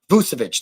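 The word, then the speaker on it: Vučević: So if you're able to get Nikola Vucevic, I can never pronounce his name right. I'll call him Vooch. But Vucevic, there we go.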